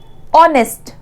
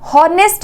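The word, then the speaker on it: honest: अब यहाँ पे थर्ड क्या है, थर्ड में ऑनेस्ट, ऑनेस्ट, तो ये क्या होता है, यहाँ पे एच साइलेंट है, ठीक है, हॉनेस्ट नहीं बोलते हैं हम, एच साइलेंट है।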